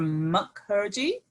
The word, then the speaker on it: Mukherjee: your saying name mukherjee yeah that's that's pretty good um okay it's just pronounced how it looks and actually my name's